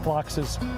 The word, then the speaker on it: phlox: So, if you haven't thought of phlox, it's spelled P-H-L-O-X. Not F-L-O-C-K-S.